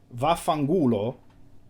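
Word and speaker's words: vaffanculo: are LS of slang VA fangulo is the proper way to say what Phil was trying to say in Italian and then you can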